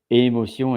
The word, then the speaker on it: émotion: So as you are hearing émotion, then there is the accent on top of the E, and the S is not pronounced. So that's why when you see that, you say émotion and not émotion, because it's about the accent pronunciation.